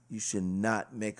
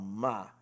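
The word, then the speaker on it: Maj: Now, the next track we're going to start out with is called Ma. It's M-A-J. I think the J is silent, so we're just going to say Ma.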